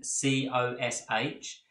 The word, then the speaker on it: cosh: sine CH the hyperbolic cosine which is written cos H and is pronounced cosh and the hyperbolic tanh which is